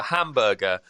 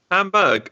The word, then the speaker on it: Hamburg: I don't know if that's how you pronounce it somewhere else, but Hamburg. No, I went there, Ben, for Manchester the final. City. Did you? Fulham got to the Europa League final, and it's pronounced Hamburg.